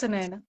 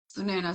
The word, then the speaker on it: Sunaina: How do you pronounce it? It's Sunaina. Sunaina.